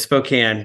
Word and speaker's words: Spokane: They say Spokane, so it's Spokane.